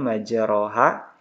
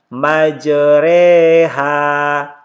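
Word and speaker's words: مجراها: Cara membacanya itu fathah yang dimiringkan ke kasrah dan alif yang dimiringkan ke ya, sehingga dibaca ya, dibaca dan huruf oronya ini tetap dibaca tarqiq. Jadi tulisannya ini majroha. Ini cara membacanya majreha.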